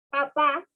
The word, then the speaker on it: papá: Entonces, nosotros que al estudiante le decimos que diga papá, estamos pronunciando el acento, lo que es en la A. Pero el estudiante no nos dice papá, sino nos dice papa.